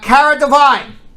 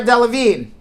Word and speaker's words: Delevingne: right all right uh cara divine cara delevingne cara i gotta pronounce her name right karen d levine delevingne now i got it cara delevingne uh she recently gave